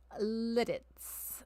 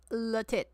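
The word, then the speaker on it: Lititz: But this town is pronounced Litz, not Latit. It's called Littitz.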